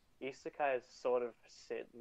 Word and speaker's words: isekai: Yeah, Isekai. Said it wrong. Isekai.